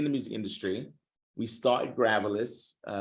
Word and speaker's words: Gravillis: Gravillis, pronounced Gravillis.